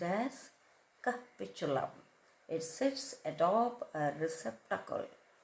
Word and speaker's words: capitulum: Capichulum. That's how you pronounce. And it's spelled as c a p i t u l u a pronounced as capitulum.